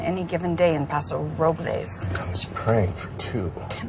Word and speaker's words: Robles: call it us approvals well the correct pronunciation is Robles but they call it